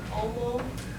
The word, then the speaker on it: homo: Anytime we have the word omo, it looks like homo, but we don't pronounce the H.